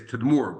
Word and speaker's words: Tadmor: In Arabic, it's pronounced these days Tadmor, but that's the same name.